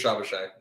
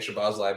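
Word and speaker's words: Szoboszlai: I think actually it's Shabashai. That's proper way to say it. I think so. But even like I've been saying Shabazlai, but I was even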